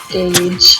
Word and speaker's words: gauge: Gauge. Yeah, it's Gauge, not God.